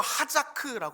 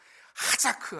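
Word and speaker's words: חזק: 하라라고 이야기합니다 굳세게 하라 히브리어로 하자크 이렇게 이야기해요 얼마나 발음도 강합니까 하자크 아주 그냥 세게 이야기하는 거죠 명령으로 되어 있어요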